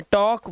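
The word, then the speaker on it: talk: देखो के से पहले आया एल तो ये टॉक वॉक एल पहले है के से चौक इसी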